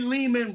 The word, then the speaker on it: Lehman: that yeah that's awesome Ari Leman rhymes with demon the first Jason from